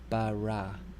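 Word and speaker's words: ברא: Okay, this word, here you notice that we have two kametzes in the first two syllables. So this word is pronounced bara.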